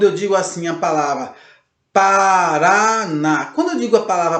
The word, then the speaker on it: Paraná: digo a palavra Paraná, a sílaba mais forte que nós falamos aí é o RA, o último RA, Paraná, o NA, Paraná, e o acento agudo no A, ok? Essa é a sílaba tônica.